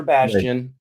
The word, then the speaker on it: Bastion: It has to be pronounced a certain way. Otherwise, it sounds like another word. Just got to be careful about that. It's Azure Bastion.